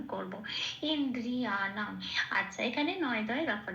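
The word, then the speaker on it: ইন্দ্রিয়াণাং: নয় হসন্ত লেগে গেছে। মানে নটা অন অর্থন হিসেবে উচ্চারিত হবে। তার মানে পূর্ণরূপে ন বলে আর উচ্চারণ করতে পারবো না। তাকে এই আগের অক্ষর হসের সাথে জুড়ে উচ্চারণ করতে হবে ইন এরকম আর দ এর আগে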